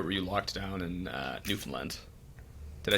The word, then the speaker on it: Newfoundland: And then were you traveling around Canada or were you locked down in Newfoundland? Did I say it right? Yeah, Newfoundland, yeah.